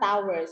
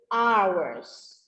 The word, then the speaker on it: hours: Yeah, it's not towers. It's not towers. It's hours. So that you can pronounce hours.